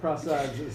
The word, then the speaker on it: Prasad: 11:32 is the time which comes to you courtesy of Prasad's Supermarket. No, but I will say though The correct that race pronunciation really is Prasad.